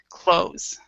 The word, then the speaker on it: clothes: what we do is we pronounce it without the th so we pronounce it like this close okay we're in British